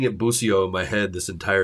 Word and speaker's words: Bussio: It's Bussio. Like the shrub, Bussio. Yeah. Okay. I've been saying it Bussio in my head this